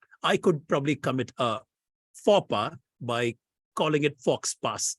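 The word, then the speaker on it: faux pas: would be covering is fopa it's written as f-a-u-x-p-a-s and it's one one of the most mispronounced words in common usage fox pass is how people normally pronounce it Faba means a goof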